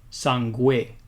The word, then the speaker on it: sangue: And as I just said, it's pronounced gue, sangue.